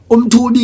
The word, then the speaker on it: umthubi: Umthubi is pronounced umthubi.